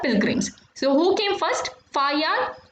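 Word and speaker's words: Faxian: So the best known of these are Chinese Buddhist pilgrims Fa Yan, Yunzang and I King. X is to be pronounced as H. So you will read this as Fa Yan and this is Yunzang and I King.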